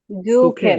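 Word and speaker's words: suchen: জুখেন, সুখেন। জুখেন, নট সুখেন। জুখেন। এস এর উচ্চারণ কিরকম হবে? জুখেন। জয়ের মতো।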